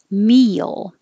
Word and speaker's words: meal: and priority priority meal this is a situation where your e is very high and then you're sliding down to make your tongue go down and up for the l so that's when a y accidentally happens meal and other words